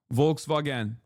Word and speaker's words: Volkswagen: Volkswagen is how we say it in Turkish.